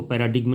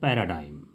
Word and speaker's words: paradigm: पैराडिग्म लिखा हुआ है, इसको पैराडिग्म नहीं बुलाएंगे, इसका प्रोनाउंसिएशन है पैराडाइम।